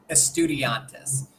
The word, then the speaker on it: Estudiantes: You've got San Lorenzo and Estudiantes. Is that the proper pronunciation? Estudiantes.